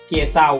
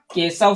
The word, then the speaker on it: केशव: लेकिन इसको हम लोग उच्चारण क्या होगा, केशव सुनने में अच्छा लगता है, केसाव सुनने में अच्छा लगता है क्या, नहीं लगता है, तो केशव अच्छा लगता है।